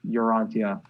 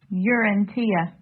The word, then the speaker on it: Urantia: Those are some of my favorite vocal parts, but holy crap, what a job he does on Urantia.